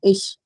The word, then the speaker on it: ich: Sh has to be the pronunciation. Sh, ish.